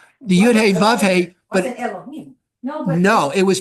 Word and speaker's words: Elohim: different vowels so it's pronounced Adonai that's it's pronounced Elohim but you can write Elohim it's not there's